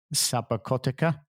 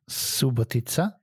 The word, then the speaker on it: Subotica: Like Željko's little place in Sabakotica. Is that how you say it? Subotica. Nearly. No, not even close, but it doesn't matter.